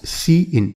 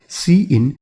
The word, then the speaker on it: cin: Number one, we have cin which is pronounced as see-in, so we call this as see-in and this is used for standard input.